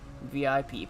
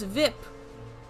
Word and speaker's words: VIP: What's VIP? Ike. Ike, sure. I don't like that pronunciation. It doesn't roll off the tongue as well. He pronounces the acronym as a word rhyming with zip.